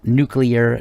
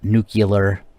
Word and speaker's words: nuclear: radioactivity and do please make sure to pronounce it nuclear not nuclear it's not spelled that way Homer Simpson may say it that way as he works at his nuclear power plant but uh it is definitely not nuclear thank you very much